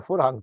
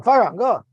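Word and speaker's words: פֿאַרהאַנג: I call it a forhang because that's how you say a curtain in Yiddish. A farhang, farhang.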